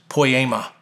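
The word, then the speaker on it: ποίημα: And in verse 20, that phrase, what has been made, comes from one small Greek word that's pronounced poema. It's where we get our word poem.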